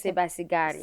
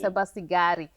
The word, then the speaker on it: Sebasigari: Oh, it's Sebasigari. Sebasigari. Sebasigari. So I'm here with our special guest, Jennifer Sebasigari, and she is just sharing with us her